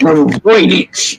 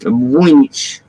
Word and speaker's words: Voynich: But Voynich is how it's pronounced. Voynich. Yes, with a W.